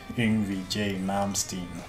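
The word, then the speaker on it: Yngwie Malmsteen: modern stand the more correct way to do it is to say Envy J Malmsteen so let me know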